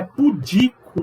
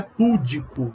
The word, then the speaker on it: pudico: É pudico, não é púdico, não tem acento.